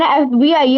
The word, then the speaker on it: FBI: Paul is an FBI agent. Very good. He is an FBI agent because the pronunciation is F, A. A is E, like the vowel sound.